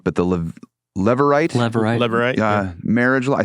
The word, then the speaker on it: Levirate: There's a law in Israel, I never say it right, but the Levirate marriage law. I say it right now. That's good. The Levirate marriage law, which said if the firstborn son